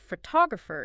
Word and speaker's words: photographer: Word stress is about which syllable in a multisyllable word receives the strongest emphasis, like photograph is stressed on the first syllable, but photographer is stressed on the second.